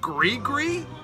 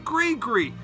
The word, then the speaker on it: Gris-Gris: It's pronounced Gree-Gree? That's what I mean. It's pronounced Gree-Gree.